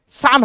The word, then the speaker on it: son: যেমন একটা example, SUN সান হয়, SON সান হয়, আবার বলো না সন হয়, ওটা ভুল উচ্চারণ।